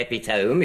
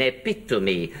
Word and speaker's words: epitome: if you didn't say epitome you don't see penny lope all the greek derivatives sound their final e you say penelope an epitome and syndra me and